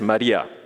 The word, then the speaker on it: Maria: So Mary, if you read in Greek, the original language of the Bible, is actually pronounced as Maria.